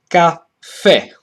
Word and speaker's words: caffè: a neutral syllable, and the same goes for cafe. In this case, there is no neutral because the main stress falls on the last syllable, so it's caffè.